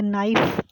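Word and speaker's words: knife: उससे आगे है नॉलेज, के जो है साइलेंट है इसमें, नॉलेज का मतलब जानना, मालूमात हासिल करना। आगे नाइफ, चाकू, छुरी, के जो है वो साइलेंट है इसमें।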